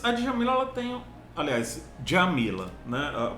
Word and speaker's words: Djamila: Aliás, Djamila, né? A pronúncia correta é essa. A Djamila, ela tem um conceito que ficou muito famoso, né?